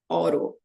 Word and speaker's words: autopilot: eu até consigo mas isso aqui para mim parece ao em português é alto mas em inglês é oro oro aí a gente